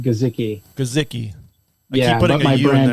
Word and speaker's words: Guzicki: It's actually pronounced Guzicki.